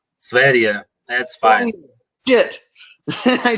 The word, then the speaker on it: Sv3rige: Sv3rige. That's fine. Oh, shit. I said it wrong again. Sv3rige. I need to think of it like a country, the country of Sv3rige.